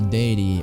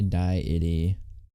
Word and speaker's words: deity: Deity. Oh, I was saying it right. Don't just don't say diety. Sounds like something that should be low fat.